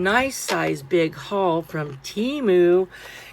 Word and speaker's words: Temu: Did you guys know that it's actually called timu? Like really pronounce timu, but you know, us Americans have to like pronounce it how we want to. So, it's timu. Timu.